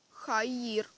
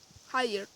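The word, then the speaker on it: hayır: нас буде зовсім по-іншому я Ні буде звучати як хайїр хайір коштує не забувайте про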